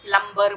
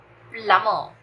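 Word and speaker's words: plumber: pronunciation प्लम्बर नहीं है, द बी is silent, B का कोई साउंड नहीं है, इसका सही प्रोनाउंसिएशन है प्लमर, प्लमर, प्लमर, द B doesn't have a sound, प्लमर, कोई पानी की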